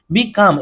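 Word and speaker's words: becalm: বিকাম, এখানে এল এর উচ্চারণটা সাইলেন্ট হয়ে আছে।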